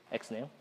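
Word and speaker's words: XNU: Anyone know how to pronounce that? XNew, thank you.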